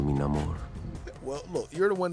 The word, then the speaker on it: Namor: My people call me, but my enemies call me Namor. Well, look, you're the one that can do that rolling. You don't need to roll it. Just say it like Americanized, like Namor.